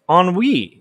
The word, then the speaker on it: ennui: Adam said, NUI is pronounced ennui.